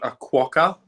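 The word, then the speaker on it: quokka: place of this certain type of animal called aquaka it's spelt q-u-o-k-k-a and they only live on this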